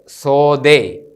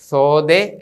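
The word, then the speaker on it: ܨܳܕܶܐ: പ അല്ലെങ്കിൽ ഫ് ഇതാണ് സോദേ ഇന്ന് പഠിക്കുന്ന അവസാനത്തെ അക്ഷരമാണ് ഇത് സോദേ ഇത് എസ് സ് എന്ന് തന്നെയാണ് ഉച്ചരിക്കുന്നത് പക്ഷേ ഇംഗ്ലീഷ് അക്ഷരമാലയിലെ എസ്സിന്റെത് പോലെയല്ല ഈ ഇതിന്റെ ഉച്ചാരണം ഇസഡിന്റെതുപോലെയുമല്ലി ഇതിന്റെ രണ്ടിന്റെയും ഇടയക്കുള്ള ഒരു ഉച്ചാരണമാണ് അല്പം പ്രയാസമാണ് എങ്കിലും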